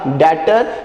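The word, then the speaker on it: debtor: अच्छा, इसके अंदर बी जो है वो साइलेंट है, बी आपने लिखना है लेकिन इसे आपने पढ़ना नहीं है, ये पढ़ा जाएगा डेटर, या इसी को हम अकाउंट रिसीवेबल भी कहते हैं।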